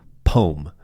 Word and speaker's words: poem: tangent though is that some people in the US say the word poem as one syllable poem rhymes with Rome or or or gnome Poe um which I